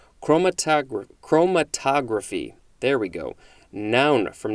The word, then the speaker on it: chromatography: hard chromatogra chromatography again it's always about where is the emphasis what syllable is emphasized chromatogra chromatography there we go noun